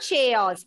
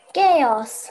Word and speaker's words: chaos: It's not chaos.